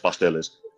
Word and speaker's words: pasteles: How do you Pasteles. pronounce that?